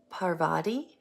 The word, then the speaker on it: Parvati: So, Parvati, I think is how you say her name,